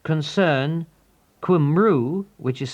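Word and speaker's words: Cymru: If you live in Wales, write to H Concern Kumu, which is spelled C Y M R U, fourth floor, 1 Cathedral Road, Cardiff, CF1 9 SD.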